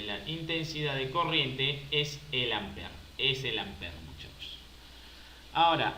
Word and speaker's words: ampere: i la i es ampere no pero se pronuncia amper o sea sin esa última e esta e no lo lean no lo lean pero